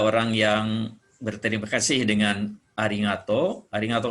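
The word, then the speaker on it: ありがとう: Berikutnya, ya kalau kita berterima kasih, kita mengucapkan terima kasih secara umum, itu arigato atau lengkap ya, arigato gozaimasu. Ya, hiragananya. Arigato, to-nya bunyi panjang pakai u, arigato.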